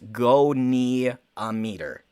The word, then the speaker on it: goniometer: says don't you dare ander says it's pronounced go knee a meter good to know okay